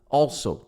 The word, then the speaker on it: also: Tenta falar esse L, não fala ao, com U, não fala ao. Fala all, é o all. É quase um O e um L. All, faz esse all.